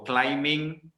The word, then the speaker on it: climbing: with the ing form you don't pronounce the b so in english guitar is the silent b so climbing plumbing woken climbing plumbing okay climb bird salah climber plumber salah is plumber okay silently this is